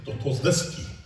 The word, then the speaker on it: Dostoevsky: This comes from, I'm going to make this up, but I shouldn't tell you that, but his name was Dostoevsky. That's exactly how you pronounce it.